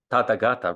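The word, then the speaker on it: Tathāgata: Tathagata, right?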